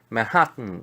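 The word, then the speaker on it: Manhattan: 맨하탄 있잖아요. 맨하탄도 똑같이 맨하튼 이렇게 발음하거든요.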